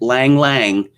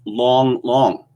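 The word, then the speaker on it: 郎朗: presented in english as lang lang but it's actually pronounced long long so why don't you just change those a's to os and stop confusing us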